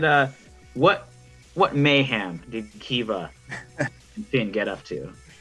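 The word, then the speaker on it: Keeva: of her name it's kiva eva okay i'll try and ryan right down more just yeah the easiest pronunciation is k-e-e-v-a it's very fun spelling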